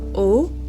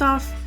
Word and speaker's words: eau: Yeah, Shiv was losing it over the fact that like first off it's spelled that way. So yeah, it it is pronounced O. So just like the letter O, but it's E A U.